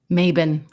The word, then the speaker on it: Mabon: It's called Seasons of the Witch and Mayabon. Okay. I don't know how to pronounce that, so we're going to look it up right now. Okay. How to pronounce Okay, Maven. Okay. All right. Maven it is.